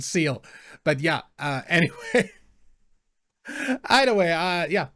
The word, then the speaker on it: Zexal: Also the reason I know that it's not pronounced Zexal, but Seal.